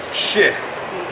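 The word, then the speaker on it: shix̲: Where I'm from, we would say it like this. S-H-I, and then an X with an underline. That would be shich.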